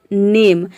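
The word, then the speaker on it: name: नेम में से यहाँ पे देखिए जो लास्ट में ई आया है, ई को हम प्रोनाउंस नहीं करते हैं, ई साइलेंट रहता है। अगर यहाँ से हम ई को हटा दे तो ये क्या हो जाएगा, NAM, ये नैम हो जाएगा। इसको हम नैम प्रोनाउंस करेंगे जिसका मीनिंग बदल जाएगा।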